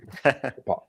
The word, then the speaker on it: Napolitano: I am joined by John Napolitano. I totally meant to ask how to pronounce it Close, beforehand. Napolitano.